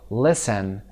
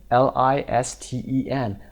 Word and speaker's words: listen: پس پاسخ listen. L-I-S-T-E-N. listen. T رو تلفظ نکنید. نگید listen.